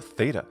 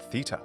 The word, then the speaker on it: theta: cool looking letter is called Theta in American English and Theta in British English for example daughter the